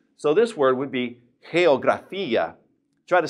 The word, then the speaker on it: geografía: Notice that the G is in front of an E, so therefore we would say it like a breathed H. So this word would be geografía.